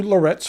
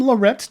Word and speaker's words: Laurett's: A big thanks go out to Lorettes for providing this pen for review.